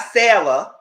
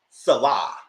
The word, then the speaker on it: Sarah: next is Andre and Salah not Sarah Salah and it's spelled s-a-r-a-h you know some of